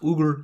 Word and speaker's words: Uyghur: If most people, they pronounce it Uyghur, it's actually pronounced Uyghur, according to one of my Russian friends.